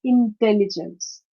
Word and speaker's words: intelligence: It's a four-syllable word, and the stress is on the second syllable of the four-syllabic word, like intelligence, particular, catastrophe, and philosophy.